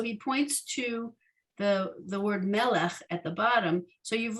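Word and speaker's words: מלך: points to the word melech at the bottom. So you've learned 2/3 of that word now, right? We just don't have that final ch, that guttural sound at the end of the word.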